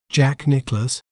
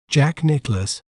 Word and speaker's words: Jack Nicklaus: We may pronounce it as Jack Nicklaus, Jack Nicklaus, Jack Nicklaus, Jack Nicklaus.